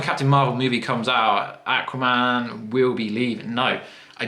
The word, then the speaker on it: Aquaman: Okay, so in England, we say Aquaman, but you guys in America and Australia say Aquaman. It isn't aqua. We pronounce it aqua, as in aquarium.